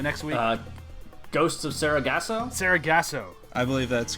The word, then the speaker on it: Sargasso: How do you pronounce the name of the episode? The next week? Ghosts of Sargasso? Sargasso.